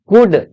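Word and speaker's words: could: तो चलो इसको पढ़ो कुड सी ओ यू एल डी L silent कुड क्या पढ़ेंगे कुड फर्स्ट मिस्टेक एकदम कॉन्फिडेंस लाना है।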